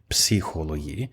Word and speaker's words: psychology: Yes, and we know why it's spelt with a P, psychology. Yes. Why the hell do the English not say the P?